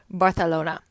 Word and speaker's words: Barcelona: And yes, that's how they say it here. Barcelona.